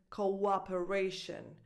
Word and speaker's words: cooperation: These 2 O's belong in 2 different syllables, like in the word cooperation. So the first O, it's O, like in the alphabet, like in the word so, and then it's like another word that starts operation, cooperation.